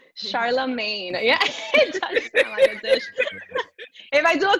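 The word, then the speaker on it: Charlamagne: different and you know i love how dominican women say my name it sounds like a spanish and hybrid dish charlomay charlemagne yeah if i do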